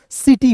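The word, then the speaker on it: city: सी आई टी वाई। ठीक है? तो सी के बाद दोस्तों क्या आया? आई आया। सी के बाद आई आया। तो सी का उच्चारण स। आई का उच्चारण इ के रूप में। टी का ट और अंतिम में वाई जब भी दिखेगा तो इसका उच्चारणारा ई के रूप में हो जाएगा दोस्तों सिटी हो जाएगा।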